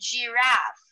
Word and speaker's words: giraffe: Jump and giraffe. Yes. Okay. Yes. So you pronounce that as j.